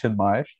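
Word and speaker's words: Chinmaya: Funny enough, the A at the end of my name is actually not pronounced, it's just Chinmay.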